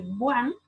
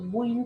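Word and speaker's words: Bouin: Tenemos lo que es el BUAN, o BUIN, que se escribe así, formaldehído, etanol y otros.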